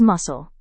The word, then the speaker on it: muscle: Our first word is muscle. In Hindi it means manspeshi. It is pronounced as muscle instead of muscle.